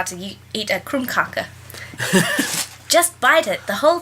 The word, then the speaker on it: krumkake: Is it actually, how is it pronounced? Krumkake.